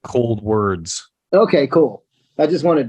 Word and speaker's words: Coldwards: So and it's easy to get confused, and it even looks like Cold Wards when you look at it. But Yeah. Well, I think it was on your website. I saw a thing that said pronounced like cold words.